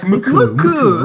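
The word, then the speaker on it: MUCC: I remember like Muck. They went. Is it Muck or Muku? It's like Muku, wherever. But like no one pronounces it Muck like in the West.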